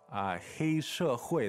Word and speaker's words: 黑社会: Yeah, so 黑, that's first tone, right? 对. And that means black. 社会 is fourth tone, society.